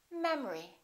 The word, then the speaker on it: memory: The second syllable is reduced, the first syllable is stressed. We don't say memory, we say memory.